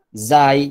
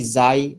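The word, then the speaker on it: ز: huruf z huruf ro Zai yang ini Zai bukan Za huruf Sae yang ini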